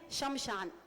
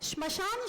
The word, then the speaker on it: स्मशान: सब गलत बोलते हैं अधिकतर लोग गलत बोलते हैं शमशान अत्यंत गलत उच्चारण छात्र भी वैसा ही कहते हैं स्मशान शब्द होता है तो मूल तो